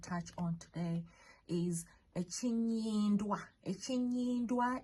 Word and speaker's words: Ekinnywindwa: Ekinnywindwa is EKINNYINDWA.